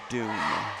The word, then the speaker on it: Doom: Said like Doom. For must be the other team there for Highland. I'll find it again. And Altquist says hello, guys. So it's pronounced Doom, not Doomy. Yes. Okay. Thank you. Like the video game.